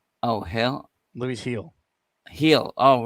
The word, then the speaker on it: Gil: starts okay let's go Gil let's the G is actually pronounced like an H oh hell Lou heel heal oh right okay